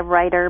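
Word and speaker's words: Rueter: Well, I say it writer, but you can say it however you'd like.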